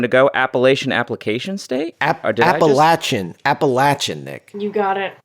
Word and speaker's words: Appalachian: where you wanted to go Appalachian application State appalachin appalachin Nick you got it you got it